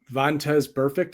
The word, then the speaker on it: Vontaze Burfict: So one I don't have video for, there was an interview with, how do you pronounce his name? Vontaze Burfict from the Raiders. Vontaze Burfict, I believe it is.